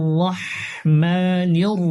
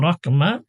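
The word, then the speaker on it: رحمن: অনেকে আছে বিসমিল্লাহির রহমানির রহিম অথবা বিসমিল্লাহির রাহমানির রহিম। অনেকে রাহমানি বলে, আবার রহমানির রহিম বলে। এখানে মূলত হচ্ছে বড় হা, যেটা গলায় একটু চাপ দিয়ে উচ্চারণ করতে হয়, রহ।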